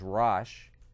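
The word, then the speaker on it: Rosh: which in the Bible in the King James the the pronunciation is rash uh and uh tabul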